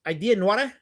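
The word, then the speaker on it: Idées noires: Well, it's Belgian, it's Franco-Belgian, so you shouldn't pronounce the S. So it's Idea Noire.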